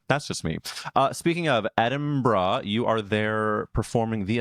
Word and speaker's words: Edinburgh: I think it's Edinburgh. Like bruh.